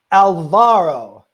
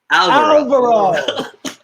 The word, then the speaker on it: Alvaro: slowly here we go alvaro alvaro i was just kidding i knew how to say it i was kidding i was putting the accent on the wrong side you know exactly oh